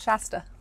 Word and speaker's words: Shasta: Oh, Mount Shasta.